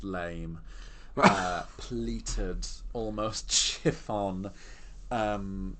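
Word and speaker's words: lamé: on actually it's um this gold Lemay pronounced lame uh pleated almost chiffon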